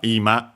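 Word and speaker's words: 今: Yeah, this one is clearly simply ima accented on the first uh mora the first syllable uh which means now now the present time uh and so on.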